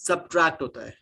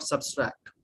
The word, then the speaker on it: subtract: receipt okay substract guys subtract addition subtract it's subtract not substract next is data give